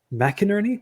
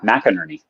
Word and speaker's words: McInerny: and writers today we are joined by Daniel mcinerney am I pronouncing that right you are mcinerney mcinerney he is an author of fiction for both